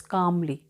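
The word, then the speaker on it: calmly: रे ने शांत रहते हुए, कामली मतलब यहाँ पे एल साइलेंट है, तो इट्स कामली, काम मतलब शांत रहते हुए, उन्होंने अपना गुस्सा शो नहीं किया।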